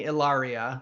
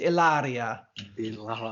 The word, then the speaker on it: Ilaria: sure for the video I was pronouncing it correctly the Italian way you got to roll that are so it's ilaria I can't roll more